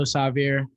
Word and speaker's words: Sahvir: i want to say it's still savvier um you said it wrong my name hasn't apologized